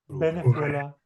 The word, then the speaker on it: Venezuela: Uve and the be really are the same sound in Spanish. So you need to pronounce both of them with your lips touching each other, not your teeth touching your lips. So it's not the, it's b. Venezuela.